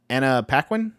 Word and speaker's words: Anna Paquin: She is his wife, and Anna Paquin.